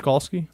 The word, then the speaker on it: Skalski: Because I know we have the Clemson, I can never say his name right. James Skalski?